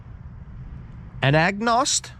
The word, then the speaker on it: Anagnost: Those teams from 2008 to 2010 were led by Coach Tom Anagnost. Forgive me if I'm pronouncing his name wrong.